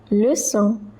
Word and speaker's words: leçon: Que troisième leçon. So over here OI is pronounced as wa. Troisième leçon. The C, it has cédille below it, so it is pronounced as so.